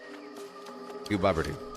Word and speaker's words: Gooboberti: So that's how you pronounce it. Gooboberti.